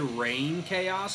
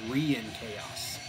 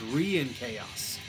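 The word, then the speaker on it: Reinkaos: I said Rain Chaos for years too, but I watched an interview with him with John Nutfight, and he pronounced it Re-in Chaos. So it's Re-in Chaos, like to chaos again.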